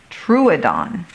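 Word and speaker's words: Troodon: even in dim light true dawn Oh see it's going to help me with the pronunciation good truadon I am a dinosaur ready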